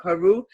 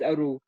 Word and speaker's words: Aru: Like Haru. It actually mean Aru. It's not Haru, it's Aru.